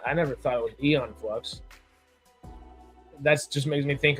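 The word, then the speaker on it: Aeon Flux: I think apparently it's eon flux. I have mis mispronounced that the entirety of my 27 years. Oops. I get what you're saying. Okay. Yep. The A is silent, I guess.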